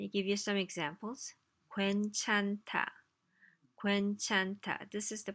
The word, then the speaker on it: 괜찮다: 괜찮다. 괜찮다. This is the pronunciation symbol, right? 괜, that's hard enough. 찬, which is tricky because there's n and h together.